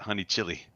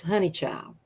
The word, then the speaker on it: Honeychile: they always pronounced it honey chili people do that yes but see we're down south i'm in north carolina right so it's honey child y'all y'all yeah yep